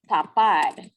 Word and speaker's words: tapar: Tapar, so it sounds kind of like top, you know, top it, tapar. So you're gonna, oh, it kind of sounds like tap too, but we're not going to make that association.